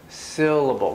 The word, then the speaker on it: syllable: do you produce stress when i say syllable syllable the first one is stressed syllable what else do you